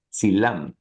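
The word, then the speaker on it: Dzilam: final teash para arriba está el silam que realmente se pronuncia silam es una dez me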